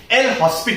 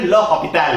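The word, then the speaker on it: l'Hôpital: Book में पढ़ा होगा, L'Hospital रूल कहते हैं। एक्चुअली वो प्रोनाउंसिएशन गलत है, इसका सही प्रोनाउंसिएशन है l'Hopital रूल।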